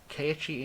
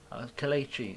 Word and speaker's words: Kelechi: Keiichi Iheanacho. Kelechi. I always forget how to pronounce his first name.